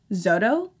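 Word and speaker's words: Xodo: Write on PDF is what I used to use, but I've recently discovered Zodo, X-O-D-O, I think it's pronounced Zodo.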